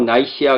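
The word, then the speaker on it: Nicaea: 영어로 나이시아 그러는데 이게 스펠링이 이게 좀 여러 가지가 씁니다.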